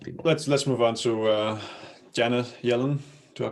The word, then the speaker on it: Janet Yellen: Let's move on to Janet Yellen. Do I pronounce that correctly?